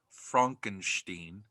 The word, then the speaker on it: Frankenstein: It's pronounced Frankenstein.